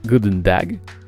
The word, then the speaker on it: goedendag: se prononcent open door good day se prononcent goût d'une dague good morning se prononcent